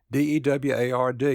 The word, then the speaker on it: Deward: reddened endured he growled d-e-w-a-r-d is pronounced deward then as the thought